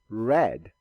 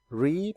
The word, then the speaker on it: read: Read, read. Wear and wore. Notice these ones are spelled the same but are pronounced different. Read and read.